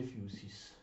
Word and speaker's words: physis: Questa lettera, la Y greca, si legge proprio U, come la U dialettale lombardo o piemontese, anche se nella traslitterazione italiana convenzionale si indica con la Y.